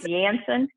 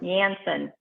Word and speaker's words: Janssen: each one of the what is it yanson is that how you pronounce it marina you'll have to teach me again but the j and j and the moderna it's yams janssen yep jansen yep there you go